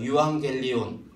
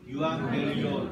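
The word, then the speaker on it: εὐαγγέλιον: 유앙겔리온. 유앙겔리온. 네, 유앙겔리온이라고 해요. 이게 라틴어 영어로 좀 번지면서 발음이 바뀌어서 에반겔리온이 되고, 보통 복음주의다 하면 뭐 에반겔리즘, 복음 전도 그런 식으로 되는 겁니다.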